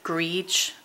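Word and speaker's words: greige: call it and I think this is a GRE color g r e i g e I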